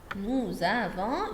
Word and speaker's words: nous avons: Nous avons une corde. Why we say z? Because if we have s et voyelle, je prononce z.